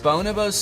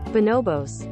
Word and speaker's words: Bonobos: Bonobos sweatpants. Is that how you pronounce it? I looked it up afterwards and it is not Bonobos.